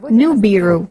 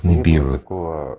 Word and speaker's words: Nibiru: Everywhere is written as Nibiru, and many pronounce Nibiru. There was no such expression or such a phrase as Nibi. It was Nubi, from that side.